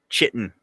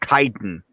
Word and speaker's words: chitin: Oh, it's called chitin. That's dumb. That's not how it's spelled.